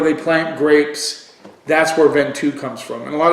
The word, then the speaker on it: Ventoux: So the first one we're going to do is the Gonnet La Jeanne Ventoux. No, that's not how you say it. It's La Jeanne Ventoux.